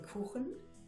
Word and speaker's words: Kuchen: Most English-speaking people have trouble to speak the ch sound, and not enough of that, there are even 3 different ways to pronounce the ch. Like in Kuchen, ch like in mächtig, and sch like in Chemie.